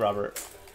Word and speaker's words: Robert: Why do you want me to pronounce it incorrectly? Rex and Sean, no longer friends. Robert. It's definitely Robert.